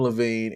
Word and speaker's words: Levine: It's Adam Levine, and then there's also, of course, everyone's favorite, Jesse Carmichael.